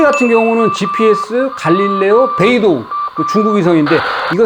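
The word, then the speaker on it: 北斗: 매빅 3 같은 경우는 GPS, 갈릴레오, 베이도, 중국 위성인데, 이거 세 개에서 정보를 받는다. 북두를 이제 중국 사람들이 발음을 베이도 하는 모양인데, 제가 에어 2S를 가지고 여러 번 날려보니까 최대 23개의 위성이 수신이 됩니다.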